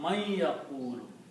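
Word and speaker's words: مَن يَقُولُ: And when you read this man with a ya, then the sound of man becomes unna, man yaqulu. In the recitation, you say man yaqulu, combining you to pronounce man yaqulu.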